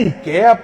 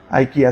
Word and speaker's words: IKEA: el arca venía de Ikea pues una cosa así o de ika aika así se pronuncia parecía que el arca